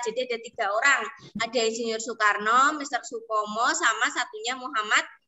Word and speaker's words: Soekarno: Hei Nah pertama perhatikan perhatikan siapa ini namanya sokarno er Soekarno Insinyur slow no kalian kalau tidak teliti membacanya masih banyak ya yang keliru Yada Soekarno Soekarno sukarso semuanya ada yang jawab ini ternyata ya tadi kurang teliti membaca ini lanjut ini namanya siapa